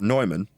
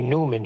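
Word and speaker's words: Neumann: to that video and George Harrison does pronounce it like you what nyman yes I was pronouncing it wrong I was pronouncing it the way it's spelled we say Newman here anyway we'll see if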